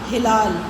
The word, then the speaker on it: ہلال: کر سکتے ہیں ہم۔ پہلا لفظ ہے اس کا ہلال، ہے کے نیچے زیر، لام کے اوپر زبر۔ احترام، الف کے نیچے